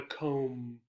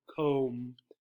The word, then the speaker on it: comb: this is called a comb a comb and this is the pronounciation here so there are three sounds the cook the oh and the hmm notice that the B is silent so we don't say